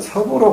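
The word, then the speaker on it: 葉: 초나라 때에 옛날 춘추 시대에 석공이라는 사람이 있었는데, 이 석자는 잎사귀라고 할 적에는 역으로 발음하고 사람 이름이나 지명을 발음할 때는 섭으로 발음해야 된다.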